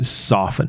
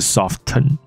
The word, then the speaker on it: soften: ，这个字的发音是 soften，不是 soften， OK， soften 不对的。